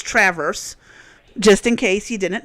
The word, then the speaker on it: Traverse: Um, and for all the people who keep calling it Traverse, Grand Traverse County, and Traverse City, that's not how we pronounce it in Michigan. It's Traverse, just in case you didn't know.